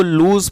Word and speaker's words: lose: जो वर्ड है LOSE, इसको लूज पढ़ते हैं, कई लोग इसको लॉस पढ़ते हैं जो कि गलत प्रोनाउंसिएशन है, तो इसको पढ़ेंगे लूज,